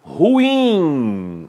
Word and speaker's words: ruim: com o capim então esta palavra tem de ser pronunciada da mesma forma o automóvel está ruim a sílaba tônica é a última observe não haverá cento